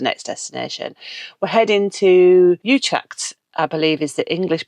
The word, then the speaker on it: Utrecht: We're heading to Utrecht, I believe is the English pronunciation of it.